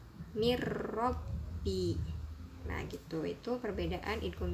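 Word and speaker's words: من ربي: Contoh pada lafadz min robbi, itu dibacanya bukan min robbi, harus dimasukkan bunyi n, huruf n ke ro nya, jadi dibacanya mir robbi.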